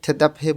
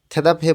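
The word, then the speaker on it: 대답해: বাড়ানোর জন্যে লেখা আছে থেদাভে বয়ো উত্তর করে দেখুন বিয়োগটা হেতির স্থানে গিয়ে ফ এর মতন উচ্চারণ হবে থেদাভে বোয়ো উত্তর করে দেখুন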